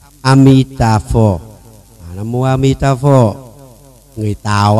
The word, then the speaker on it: Amitabha: Đây nè, cách phát âm Amitabha.